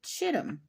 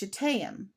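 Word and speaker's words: shittim: the same thing and in previous readings I pronounced it it didn't say Arcadia it said chittum s h t t i m it's Cham but I didn't know that before and I actually had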